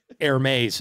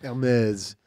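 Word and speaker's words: Hermès: Hermes is how you say that. Hermes.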